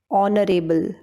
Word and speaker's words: honorable: No, I said honorable, hour, honest, honor. That means letter H is silent here.